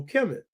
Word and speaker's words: Kemet: So vowels are put in so you can pronounce it. So Kemet ke me t.